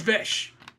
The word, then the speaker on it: VHS: It says Vesh. People spell it out. VHS. No, you just spelled it. You didn't say what it says. It's Vesh.